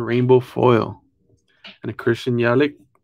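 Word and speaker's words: Yelich: foil and a christian yellow yellow is how you say his name yo kelly almost there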